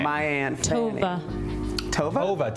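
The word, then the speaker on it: Tovah: Tova? T-O-V-A-H. Ooh. T-O-V-A. E pronounced Tova.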